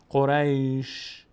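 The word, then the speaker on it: قريش: قریش، قریش. دقت کنید، قریش، قریش. شین یک صدای ازش میاد اما حرکت نداره. الان من به شین حرکت ندادم، نگفتم قریشه یا قریشه یا قریشو، قریش. فقط شنونده متوجه میشه که یک صدای شینی آمد.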